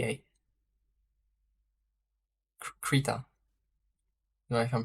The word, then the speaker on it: Krita: he said k-e-r-d-a a air i t a krita now if I'm pronouncing it right can I show you some